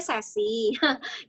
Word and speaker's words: SASC: Iya, jadi SASC itu sebenarnya bacanya sesi. Jadi Tuh sesi. biasanya sesi. Sesi. Oke. Bacanya SASSY sebenarnya, tapi memang namanya SASC.